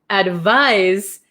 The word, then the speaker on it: advise: Advice has an S sound, but it's spelled with a C. Advise has a Z sound, but spelled with an S.